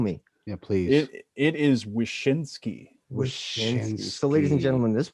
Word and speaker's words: Wyszynski: gentlemen and please forgive me on the uh pronunciation but we ladies and gentlemen have gruesome sean wazinski with us this week welcome to the show